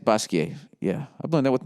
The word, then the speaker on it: Basquiat: all right uh basquiat slash basquiat is that how you said basquiat yeah i've learned that with my french studies you don't pronounce the t unless there's an e after it art world um i'm